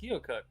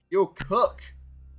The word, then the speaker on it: Keokuk: Keokuk. Keokuk.